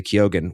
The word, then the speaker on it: Keoghan: You don't want to kill Barry Keoghan, who I heard him pronounce his own name on a podcast and he does say Keoghan, which blows my mind, but hey, he's the Irishman, not me.